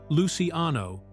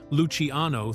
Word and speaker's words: Luciano: Charles Lucky Luciano, the real life mobster portrayed by Andy Garcia, actually pronounced his last name as Luciano with the emphasis on the Lucy part, which is how everyone who knew him in real life said it.